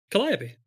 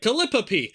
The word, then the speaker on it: Collopy: Collopy. Collopy. I did not say that. I was like calipe. And then like I reound it rewound it. Reound it. And then uh yeah and I learned how to pronounce it.